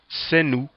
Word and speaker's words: senu: You go from sen, meaning brother, and being brother, and you add the W, which is pronounced u. Always remember that. So sen, brother, senu, brothers, and you have it in the bottom.